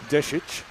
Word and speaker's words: Deshet: Deshet. Yes, that's how it's pronounced. She is of Montenegrin ancestry.